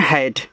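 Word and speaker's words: had: डी इसको पढ़ते हैं हैड ऐसे हैड जब दो कंसोनेंट्स के बीच में ए होता है तो ए का उच्चारण ऐ की मात्रा के रूप में तो एच से आपका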